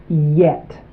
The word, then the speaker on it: yet: Here we have yet.